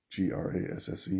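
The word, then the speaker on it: Grasse: up the hill from nice near oh grass g-r-a-s-s-e is that how you pronounce that yeah grass i i haven't been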